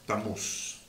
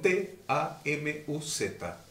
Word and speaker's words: Tamuz: demoníacas satánicas llamado tamuz Si quieren anotar el nombre se escribe con t a m u Z estamos para que lo puedan googlear Y averiguar quién estamos y cuando nació tamuz t a m o z Y que nuestro Redentor